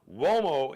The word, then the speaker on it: Uomo: Mario Uomo now, Uomo is spelled with a U. It's got the W sound. It's an Italian surname.